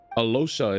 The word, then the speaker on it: Alyosha: Alyosha. Alosha. Alosha. Alosha is the way I have to say his name.